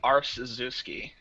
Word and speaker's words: Arciszewski: I've never heard it pronounced before, but let me try it again. So it's Arciszewski. It's actually Arciszewski. Arciszewski.